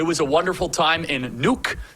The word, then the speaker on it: Nuuk: So it was a wonderful time in Nuuk. That is how you say it, not Nook, it is Nuuk.